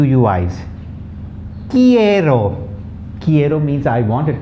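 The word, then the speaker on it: quiero: question about what okay now the q uis kiero kiero means i want it comes from the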